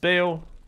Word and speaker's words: Baal: I know it's pronounced Bale, but I call him Baal.